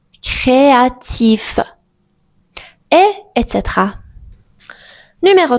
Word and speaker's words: créatif: Si le me finit par les lettres C, R, L ou F, on prononce normalement la consonne finale.